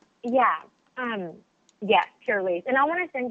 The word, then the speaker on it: Pur-lisse: Did I pronounce that correctly? Yeah. Um yes, Pur-lisse.